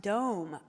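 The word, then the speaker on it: дом: grandma oh fun fact home in russian is pronounced dome very cool thank you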